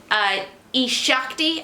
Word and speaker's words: eShakti: am so excited to be doing a Shakti I think is how you pronounce it I watched a few other videos that seems to be how they pronounce it so yukti review I